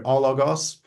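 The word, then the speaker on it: ἄλλος: way yeah yeah also we don't pronounce uh breathing marks so we You' Goos we would just go allos um okay the the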